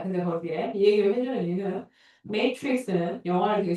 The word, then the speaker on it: Matrix: 우리말로는 매트릭스라고 하고 실제 영어 발음은 메이트릭스인데 내가 알기로 쓰니까 똑갈이 나왔어요.